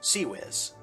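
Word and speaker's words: CIWS: six close-in weapon systems c i WS pronounced cwiz one of the guns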